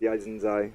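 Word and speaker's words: Yaizen_XY: Pronounced Yaizen Zai.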